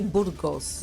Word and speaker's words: Burgos: It's actually Burgos. Burgos. Oh, okay, that's the correct pronunciation.